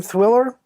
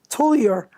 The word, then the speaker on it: Tullier: And there's Kinsale Harbor, a history by John, how do you say John's name? Thwiller? Tullier.